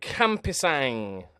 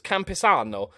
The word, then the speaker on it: Campisano: Joseph Campisang. No, I've written that down. I thought it was a G. It's an O, so it's Campisano.